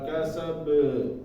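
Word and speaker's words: كسب: Jangan terlalu panjang. Jangan ma'agna anhu maluhu wa ma kasab. Nah itu kepanjangan. Jadi kasab ya.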